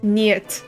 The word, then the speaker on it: Нет: Niet. That's how it's pronounced. Okay. Not 9. That's German.